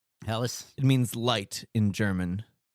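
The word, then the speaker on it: Helles: So on the table we do have other robots which is a Hell's Logger from Baldirds. I I absolutely love that beer. Solid. It's pronounced Heelis. Helis.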